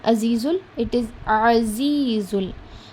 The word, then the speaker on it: العزيز: For za letter, I have told you in the pronunciation class that it comes with a buzz sound. Za, z, azizul. Whenever you're pronouncing za, the upper two jaws, the both jaws will touch each other.